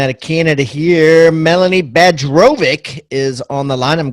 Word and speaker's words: Bajrovic: of Canada here Melanie badge robic is on the line I'm glad I got that pronunciation the Serbian and Bosnian pronunciation of that beautiful name there she is the